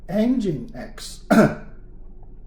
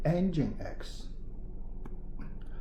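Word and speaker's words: nginx: all right second player engine x it's pronunciation engine x two parts chop this x off then engine engine of a car engine engine x this one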